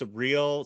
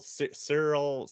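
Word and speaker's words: Syril: pronounce his name correctly I think it's surreal Cyril it's almost like cereal it's like s-y-r-i-l yeah so I'm not gonna call him cereal but it's like surreal or something yeah I definitely feel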